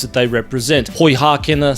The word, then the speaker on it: Poihākena: They are poihākena and poipiripi.